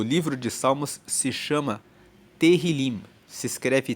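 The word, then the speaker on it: Tehilim: No texto hebraico, o livro de Salmos se chama Terilim. Se escreve T E H I L I M. E Terilim, traduzindo para o português, significa louvores.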